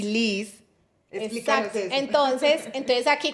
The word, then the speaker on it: Licet: Y Liz de mi nombre, porque todo el mundo me dice a mí Liz. Entonces, yo decía, simplemente lo voy a escribir diferente por mi nombre, pero se pronuncia tal cual.